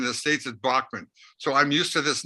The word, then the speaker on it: Bachman: alive that kind of in England it's real quick it's Beckman Turner overdrive in Canada it's Bachmann and the states is Bachmann so I'm used to